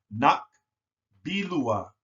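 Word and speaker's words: nakbilua: So that's pronounced nak bilua, nak bilua, nak bilua, nak bilua, nak bilua, nak bilua.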